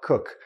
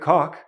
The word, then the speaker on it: cook: Sounds like it rhymes with look or took or book.